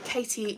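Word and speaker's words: Caity: I am Katie Craft, but it's spelled C-A-I-T-Y, then Craft.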